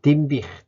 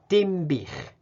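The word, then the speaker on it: Dinbych: はい、では次に、ディンビヒという地名ですね。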